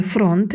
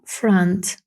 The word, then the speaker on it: front: One in the Front це не фронт як часто можна почути від студентів а Франц а коротке Friends далі that is The